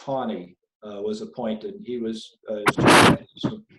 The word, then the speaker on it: Taney: After Marshall died, Chief Justice Roger, it's pronounced Taney, was appointed.